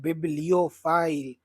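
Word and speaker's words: bibliophile: उसे कहते हैं बिब्लियोफाइल। प्रोनाउंसिएशन पे ध्यान दीजिएगा माय फ्रेंड्स।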